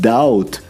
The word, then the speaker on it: doubt: That is why the word doubt has a silent B.